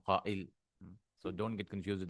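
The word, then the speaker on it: قائل: So how do you say the sayer? It was actually qabil. It takes a hamza, it becomes qa'il.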